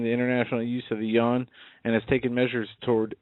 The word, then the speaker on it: yuan: But by the way, that's yuan. Yuan. Otherwise, I get emails saying, you know, what's your problem with pronunciation with some of these? It's yuan. And to Charlie, who has sent me, I think, 5 or 6 emails about my pronunciation of that. Yuan.